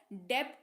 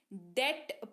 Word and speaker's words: debt: फिर हमारे पास DEBT, यहां पर टी के पहले बी दिख रहा है, तो यहां पर क्या होगा, बी साइलेंट हो जाएगा, तो इसको डेप्ट नहीं डेट पढ़ेंगे।